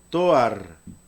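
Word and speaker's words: תואר: Entonces la palabra adjetivo se pronuncia toar, toar, así se pronuncia la palabra adjetivo.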